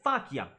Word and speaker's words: faciam: Confestim faciam. No, I'm sorry. He does that right. It's faciam. He nails it. That is exactly correct. Confestim faciam. Now, for some reason, he holds that A, faciam, a little bit more than I would have. But, yeah, confestim faciam. Very well done. That's exactly right.